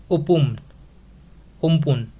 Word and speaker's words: Amphan: And it has been named by Thailand and is pronounced as Umpun. This statement is also correct. This Amphan is pronounced as Umpun as it has been named by Thailand.